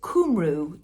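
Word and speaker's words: Cumru: this one is Katherine shenaman and it says kumu that's how you pronounce it kumu time ship which is a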